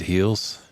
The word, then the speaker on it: Heels: David Morris and Ed Heels. It's pronounced heels, right? It's like That is correct. It's like an H-G instead of a G sound, right?